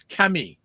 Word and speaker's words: Camille: So French pronunciation is Camille.